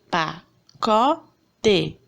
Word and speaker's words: pacote: Exemplo, pacote. A sílaba tônica é o có.